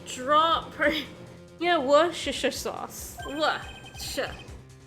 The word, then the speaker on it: Worcestershire: Worcestershire. It's actually got a bit of a T sound in it.